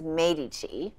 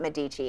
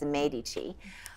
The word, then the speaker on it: Medici: So in France, I was fascinated to see that Caterina de' Medici, actually it's pronounced Medici. My Italian professor told me it's not Medici, it's Medici.